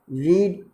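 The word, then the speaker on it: read: उसके बाद में रीड, मैंने रीड, रेड। इसका प्रोनाउंसिएशन तो चेंज होता है लेकिन मीनिंग प्यारे बच्चों सेम ही रहती है, रेड।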